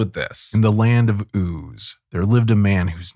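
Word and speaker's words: Uz: think but anyway um it's spelled U okay like o but it's oo but it's oo apparently um and there's no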